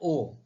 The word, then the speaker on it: owe: ओ, ओ डब्ल्यू ई का pronunciation है ओ।